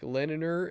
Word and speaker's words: Lenina: the female characters and he pronounces both of them like leniner and Linder because he's Scottish I've seen Linda uh